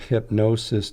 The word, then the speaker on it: hypnosis: a dot CEO and hypnosis is not spelt in the normal way it's spelled like h IP for hip and then the gnosis is like good gnosis GN o s is like gnosis as in sacred knowledge okay so that